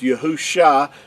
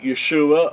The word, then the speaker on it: Yahusha: how we know that it is Yahusha and not these other variations like Yeshua or Yahushua and all these other names that are not accurate.